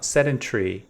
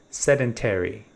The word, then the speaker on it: sedentary: Now, I pronounced uh sedentary in an a British way, but if you're a fan of American pronunciation, you can say sedentary.